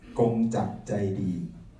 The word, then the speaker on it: Kongchak Chaidi: My name is Kongchak Chaidi, in Thai pronounced Kongchak Chaidi, and I'm a member of World Party Thailand.